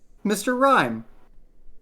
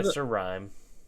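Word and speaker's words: Mr. Rime: an Mime evolves into Mr. Rhyme. That's But not right. spelled like the word rhyme.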